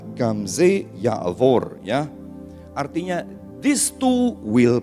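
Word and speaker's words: גם זה יעבור: Bacanya Gamze Ya'avor ya.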